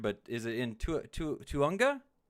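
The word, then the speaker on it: Tujunga: You got to help my pronunciation with this because it's going to be butchered, but is it in Tuhunga? Tahunga.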